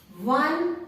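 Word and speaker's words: one: बच्चों ध्यान दो, 1 O से स्टार्ट हो रहा है पर साउंड W का आ रहा है। We pronounce this word as 1, W का साउंड आ रहा है, ओ का साउंड नहीं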